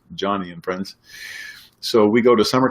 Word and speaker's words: Joni and Friends: Some of you might pronounce it Joni and Friends, but historically her dad wanted a boy. That's why it's pronounced Johnny and Friends.